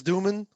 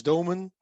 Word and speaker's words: Doomen: presentation um so my name is duman or in dutch doman very difficult to pronounce i work for a